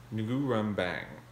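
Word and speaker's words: Nürnberg: i was born in nurembang can you hear it nugurum bang if you say it right it hits the back of your mouth and you should taste blood in your words and that is an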